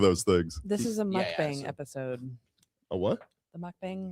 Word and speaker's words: mukbang: This is a mukbang episode.